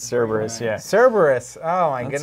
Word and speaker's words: Cerberus: It's Cerberus, yeah. Cerberus. Oh, my That's goodness. Right. We didn't get where we are pronouncing things correctly.